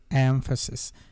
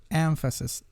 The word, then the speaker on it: emphasis: will talk about emphasis emphasis the stress is on the first syllable so you have to pronounce it like emphasis is not like emphasize emphasis no emphasis emphasis if you look